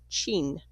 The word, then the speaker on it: Qin: civil war and established the Qin dynasty, pronounced "Chin", from which we get the word China.